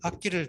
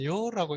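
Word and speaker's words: 樂: 의미가 이제 파생되어 나왔는데 이것을 이제 어쨌든 요라고 읽게 되면 우리는 좋아하다 이렇게 좋아하다로 이해하죠. 그럼 이거는 동사성을 갖게 되죠. 물론 이제 즐겁다 락으로 읽으면 즐겁다인데 즐겁다의 경우는 형용사죠. 즐겁다, 기쁘다, 슬프다. 그 다음에 그 악으로 읽으면 음악이죠.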